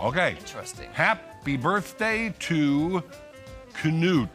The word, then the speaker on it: Knut: Happy birthday to Knut. That's the way to pronounce it, not Newt.